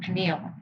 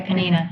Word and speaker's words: Peninnah: So has she become Peniel? Yeah, or did I say it right? Yeah, Peninnah.